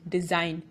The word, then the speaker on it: design: Rule number 1, the letter G is not pronounced when it comes before the letter N in a word.